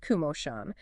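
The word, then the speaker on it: Komoshan: That's K O M O S H A N pronounced Kumosan.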